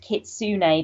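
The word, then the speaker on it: kitsune: co-host um just posted kitsun is actually pronounced kitsun because it's from Japanese folklore which is interesting I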